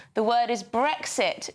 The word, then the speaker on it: Brexit: question yeah Neil asks why can so many not pronounce the letter X the word is brexit not brexit exit not exit luxury